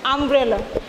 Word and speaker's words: umbrella: But here u is pronounced like a vowel sound, so we use an before umbrella.